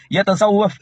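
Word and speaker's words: يتصوف: എന്നിട്ട് ആ ലീഗാരോ വലിയ നേതാവ് യതസവ്വഫ് എന്നുള്ളത് യസ്സഫ് എന്ന് പറയാം.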